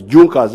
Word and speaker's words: Junkers: They are written as Junkers, but they are pronounced as Junkers.